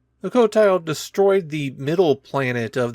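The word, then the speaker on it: Qotile: Before the weapon was finished, they were attacked by their enemy, the Kotile. That's spelled with a Q at the front. The cotile destroyed the middle planet of their solar system and the Yars vowed revenge.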